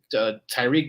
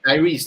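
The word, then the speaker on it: Tyrice: And like we're out here just Tyreek Knight. Yeah, Tyreek, is it? How do you pronounce his name? The rookie Knight? Tyrese Knight. Yeah, my bad. Yeah, Tyrese Knight.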